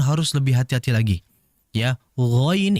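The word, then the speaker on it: غ: Ya, ghain itu pengucapannya sangat halus, kha itu kasar menurut saya.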